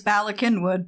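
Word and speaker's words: Bala Cynwyd: and they come across a name that is spelled b a l a c y n Wy D and of course nobody knows how to pronounce this except for Vita she knows it's Bak kinwood because that's her hometown it's Welsh and they're like I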